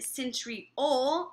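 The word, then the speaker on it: centriole: so I always remember that centy o rhymes with pole so that might help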